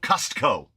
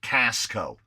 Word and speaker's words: Costco: You have to lean on the T in Costco because everyone accuses Californians of not pronouncing our T's. Santa Monica. So Costco, or as my mother-in-law pronounces it, Casco.